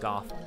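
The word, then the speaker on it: Gough: things but somehow lanfer got a hold of the hawk ring which is from Hawkeye go or Goff sorry it's pronounced Goff uh as he himself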